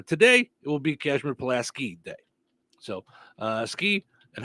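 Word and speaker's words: Pulaski: say every year in this area yes it's plaski tomorrow I will call that plasy County I know that's the way people pronounce it around here but the man's name is palaski thank you is it okay is it after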